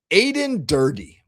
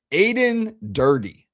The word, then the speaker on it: Aden Durde: Aden Durde. Rhymes with birdie. Aden Durde.